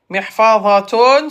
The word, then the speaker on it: محفظة: محفظة se prononce. Voilà. Oh, TikTok encore. Bon, allez, contestation. محفظة. محفظة. محفظة. الهاء. Ta se prononce comme ha.